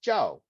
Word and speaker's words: Zhao: And in China, my last name is pronounced Zhao, and it's spelled this way.